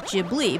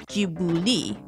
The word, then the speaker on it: Ghibli: It is based on an Italian word, which is pronounced Ghibli, but if you want to use the actual like Japanese, Ghibuli would be, you know.